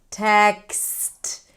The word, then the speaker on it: text: Now, let's look at other clusters at the end like text k s t text. If it's hard for you and you hear something like tax or tack then really focus on